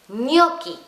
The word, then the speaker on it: gnocchi: Así que la ñ pasa a ser GN. Por eso se dicen gnocchi. Gnocchi se escribe así, con GN. No se escribe con la ñ, porque en italiano la ñ no existe.